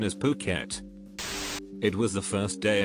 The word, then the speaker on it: Phuket: It wasn't until just about the end that I realized that I had been pronouncing Phuket as Duckit the entire time as I was reading my cards.